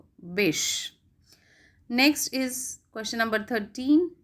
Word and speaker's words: Bysshe: Next question is, how is the second name of Percy Bysshe Shelley pronounced? So we have option Wish, Wishy, Wishy, and Bash. So the right answer is Bish.